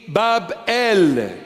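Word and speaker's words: Babel: Babylon, it started meaning Bab-El, the proper pronunciation, Bab-El.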